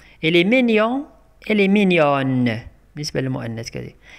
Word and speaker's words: mignonne: للمؤنث نقول elle est mignonne elle est mignonne كنطقوا هذيك ان او في الاخر كنطقوا هذيك ان في الاخر كنقولوا mignonne mignonne.